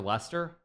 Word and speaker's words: Leicester: Madison I swear he plays for Lester or to be like an American place for Leicester I should I should be proper American or not pretend to actually know how to pronounce anything so yeah James Madison plays